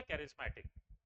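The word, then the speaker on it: charismatic: हाँ हाँ, very good, उसको प्रोनाउंसिएशन होता है उसका कैरिज्मेटिक।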